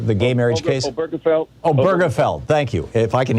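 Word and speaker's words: Obergefell: me the the the gay marriage case felt oh burgerfeld thank you if i can hear somebody saying i can pronounce it correctly um you know all those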